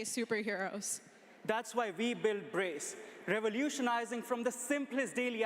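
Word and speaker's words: BRCE: So, uh, the first presenter is it's spelled B R C E, but it's pronounced Brace.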